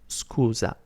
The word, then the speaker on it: scusa: It's pronounced scusa, scusa, or scusi. If you want to make it polite, you basically substitute the letter A with the letter I, and it becomes scusi, and that makes it more polite.